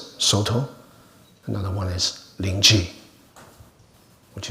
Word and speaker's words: Soto: One is Caodong, the Japanese pronounce it Soto.